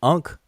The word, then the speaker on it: ankh: Other than that, it will represent the three consonants, A, N, and then what we transliterate as an X or pronounce as a ch, this hard ch sound.